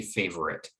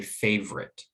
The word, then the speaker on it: favorite: the word favorite favorite that first syllable receives the primary stress and because of that the second syllable is quite weak and it's so weak that most native speakers of english when they're speaking fluently will not say favorite but say favorite and they drop that middle sound so it gets reduced